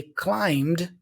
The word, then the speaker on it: climb: a little rule okay words that have this MB combination usually have the B silent so climb bomb okay